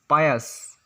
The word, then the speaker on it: pious: फिर 9 नंबर पर हम लोग का वर्ड आता है पायस, जिसका स्पेलिंग होता है PIOUS, पायस।